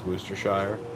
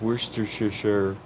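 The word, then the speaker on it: Worcestershire: like that's that's how I say it is wer Shire and everyone's like no that's not how you say it like I'm pretty sure that's how you say it they're like no it's it's Worster sh sure so I've heard that a lot about England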